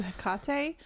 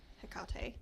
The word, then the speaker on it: Hecate: So my options are, I think I might do Hecate because that's what ChatGPT told me to do the first thing, which is very interesting to me because Hecate Okay.